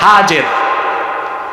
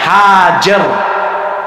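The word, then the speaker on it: هاجر: আল্লাহ নির্দেশ করলেন, ইব্রাহিম এবার তুমি তোমার স্ত্রী হাজের, যাকে আমরা বলি হাজেরা, হাদিস শরীফে তার নাম এসেছে হাজের। কি না? আমরা বলি, সমস্যা নাই, শুদ্ধ উচ্চারণটা কি? হাজের।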